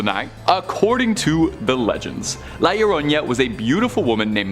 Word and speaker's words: La Llorona: And number 1, La Llorona. Now, last time you guys made fun of my pronunciation for this, and I would like to